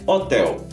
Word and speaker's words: Hotel: turistar por aqui é hotel que em alemão se escreve da mesma forma mas a pronúncia é um pouco diferente hotel em alemão a gente fala Hotel das hotel agora para quem